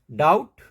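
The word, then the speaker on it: doubt: बोलना है directly T पे जाना है डेट डाउट सटल बी नहीं सबटल नहीं शटल अब देखते हैं सी कहां पे साइलेंट रहता है सी के साइलेंट रहने के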